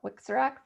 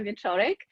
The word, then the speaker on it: Wieczorek: You did a wonderful job pronouncing my last name. I am Wieczorek, and I'm the Interim